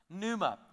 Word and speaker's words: pneuma: is the Greek word pneuma Numa the p is silent in pneuma and that word in